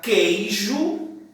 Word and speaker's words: queijo: Na palavra queijo, quei, eu também não pronuncio esse E, esse U daqui, ó. Queijo. O U foi suprimido.